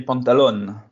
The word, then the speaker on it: Pantaloni: va s'y habituer Olivier Pantaloni est-ce que tu peux nous présenter nous expliquer qui est le nouveau coach du FC Lorient alors déjà c'est Olivier pantalon on prononce pas les i à la fin d'accord excuse-moi euh bah